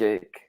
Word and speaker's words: ache: And the important thing here is that the pronunciation is similar to Italian. So the CH in this specific context is pronounced K. So we say stomach ache. Normally, CH is not pronounced like this, but in this context, yes. Stomach ache. Head ache. Not a head cake.